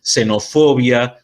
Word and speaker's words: xenofobia: en el caso de palabras que empiecen con con x no d por lo general son palabras griegas por lo general nosotros van a vamos a pronunciar como ese entonces xenofobia xenófobo si se van a pronunciar porque sería imposible